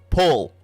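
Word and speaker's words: Puul: It's pronounced pull, like an O sound, but you have to take your mouth in a U sound, spelled phonetically P-U-U-L, but actually spelled on paper P-U-U-L.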